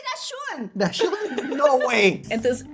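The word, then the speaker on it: Dachshund: There's no way to dash hound. Dash. It should be dashon.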